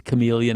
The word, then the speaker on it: chameleon: yes I I know it's chameleon I know it's silent I know there's a